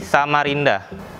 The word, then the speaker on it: Samarinda: Awalnya itu Samarenda, tapi lambat laun perubahan pengucapan jadi Samarinda.